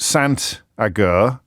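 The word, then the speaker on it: Saint Agur: It is actually pronounced Sant Agur. The T is pronounced because it's followed by a vowel.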